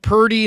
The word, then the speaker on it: Purdy: about how about per how about Purdy instead of rhymes with turdy I mean turdy how